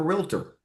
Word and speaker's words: Realtor: yeah, no different than if you just called yourself a realtor. And in Tennessee, it's 3 syllables, folks. I'm in Nashville. Realtor is 3 syllables.